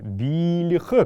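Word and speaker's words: биилх: биле биле вот здесь не забываем так как это имя и пшик тыв буква l будет произноситься мягко белли ха как будто здесь есть маленький ь белли ха это значит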